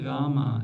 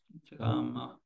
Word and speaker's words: Rama: So it's not Rama, it's Rama, it's shorter.